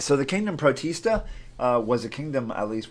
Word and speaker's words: protist: members that used to be in this group protists protests protests that's just gross I know so a